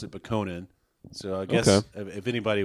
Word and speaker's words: Bokonon: always pronounce it Bokonan. It sounds like it should be Bokonon.